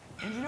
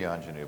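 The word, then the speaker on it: Ingenu: to thank our sponsors Inu or onu Inu Inu it should be anenu but we knew no one in Amica would pronounce it right sequins and uh and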